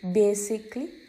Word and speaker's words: basically: So when we pronounce it, it comes as magically, basically, ironically.